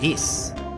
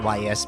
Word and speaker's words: Ys: I've heard of that I have heard of E I used to call it Ys because uh I'm I'm an uncultured bastard only